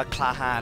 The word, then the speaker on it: Klahan: อินเตอร์ อินเตอร์ นะ ครับ ก็ น่า จะ อ่าน ว่า คาฮา นะ ครับ ฮีโร่ สัญชาติ